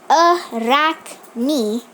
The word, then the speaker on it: Arachne: mind an ancient Greek Arachne pronounced a rock me mean spider was the